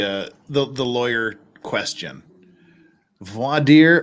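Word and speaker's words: voir dire: the the lawyer question V deer or is it correctly pronounced V dire like we do in Utah V deer okay you're in the middle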